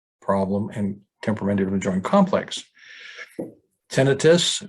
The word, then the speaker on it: tinnitus: and temperamental joint complex tinnitus which is the correct pronunciation of ringing in the